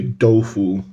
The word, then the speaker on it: 豆腐: taken from the chinese we just pronounce it slightly different we say tofu they say dofu and p means skin